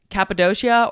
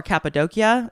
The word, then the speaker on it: Cappadocia: But it's located in, there's two ways to pronounce it. Cappadocia or Cappadocia, I believe, is the Turkish way to say it, which is in Turkey.